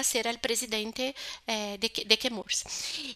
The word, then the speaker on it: Chemours: Pero se decidiu pronunciar que Murs em homenagem à la família do pont de de Murs, não? Que é la família que p não? Então se kemurs, mas se fala kemur em homenagem al apelido de la família, não?